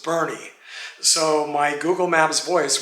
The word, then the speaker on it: Boerne: as davis's niche and i asked the woman at the desk how to pronounce the name of this town and she says bernie so my google maps